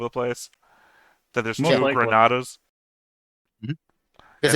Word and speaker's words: Granada: It's Granada. It's just that in English it's Grenada.